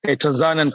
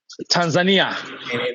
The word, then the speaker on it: Tanzania: Tanzania is a locally pronunciation, Tanzania. But for the people from other side, they call Tanzania. When you go to German, they call Tanzania. So, but I can call it myself Tanzania.